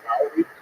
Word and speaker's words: Lowry: My name is Lowry, spelled L-O-U-R-Y, but pronounced L-O-W-E-R-Y.